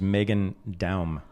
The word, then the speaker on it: Meghan Daum: Her name's Meghan Daum. Is that how you pronounce it?